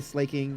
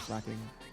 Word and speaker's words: Slaking: People say slaking. That's totally wrong. Obviously, slacking.